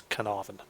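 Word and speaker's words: Caernarvon: Conqueror and the fv215b just in case any non Brits were wondering how to pronounce this one that's canavan it's named after Castle in Wales um the fv215b haven't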